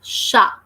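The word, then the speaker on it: chat: letter which is T and in French we never pronounced last T in a would either up you word may last letter T here so that is a mute letter we never pronounce that endo and also what so this word will be sharp because the sound of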